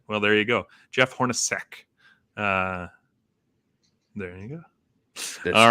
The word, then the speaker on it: Hornacek: Jeff Hornacek.